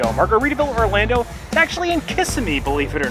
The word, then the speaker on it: Kissimmee: Margaritaville Orlando is actually in Kissimmee, believe it or not. Or Kissimmee, I think it's properly pronounced.